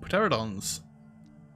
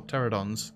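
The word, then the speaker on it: Pteranodon: only just started oh pateradons or pterodons don't pronounce the p racer tops oh no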